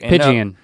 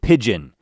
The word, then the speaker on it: pigeon: - Pee-geean. - When you look at this, you see right here, it's very clearly a two syllable word, pigeon, pigeon, pigeon is the correct pronunciation.